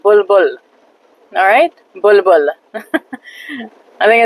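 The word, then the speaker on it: بلبل: Bulbul.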